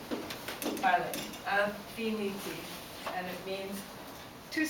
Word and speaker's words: parler: I've got parler, the infinitive. First of all, remember that air is always pronounced a.